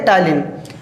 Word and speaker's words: ptyalin: टायलिन का spelling देखो, PTYALIN। लिखा है टायलिन लेकिन इसको पढ़ेंगे टायलिन।